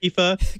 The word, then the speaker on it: IFA: what FA is and whether or not you should ever pronounce at IFA I don't know if you should pronounce it I say I've only heard Eva there is a long